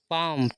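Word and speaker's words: palm: very का अर्थ बहुत पाम प एल साइलेंट होता है इसमें पाम पाम माने ताड़ का पेड़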